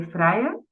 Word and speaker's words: Vrije: you can just say Freya uh so the I and the J they are pronounced like I so it's Amsterdam